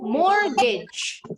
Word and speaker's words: mortgage: And the last word is, remember, the T in the middle is silent. Mortgage. Yes, mortgage. Jadi G yang di sini bunyinya bukan G, bunyinya J.